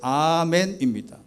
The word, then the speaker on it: 아멘: 영어로 아멘은 여기 써 있는 아멘은 에이멘이라고 해요. 영어권에는 그냥 에이멘이라고 에이멘. 그런데 본래의 그대로 발음이 아멘입니다. 그 옆에 있는 빨간 글씨 이 히브리어도 아멘이고 그 옆에 있는 헬라어도 그냥 아멘입니다.